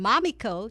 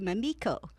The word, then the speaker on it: Mamiko: myself such as even changing the pronunciation of my name so that it was a little softer from mommy Co to Mamiko great I'm glad thank